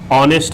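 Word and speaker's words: honest: ऑनेस्ट आ गया। आवर आ गया। तो एन ऑनेस्ट क्या होगा? अब कहेंगे ये है तो क्या? कंसोनेंट है लेकिन प्रोनाउंसिएशन किससे हो रहा है?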